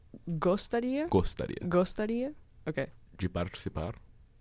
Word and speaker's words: participar: If it's a TI, it's cha.